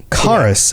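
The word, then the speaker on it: Chaurus: was the pronunciation then chorus okay so it's not a CH it's a c I refuse chorus because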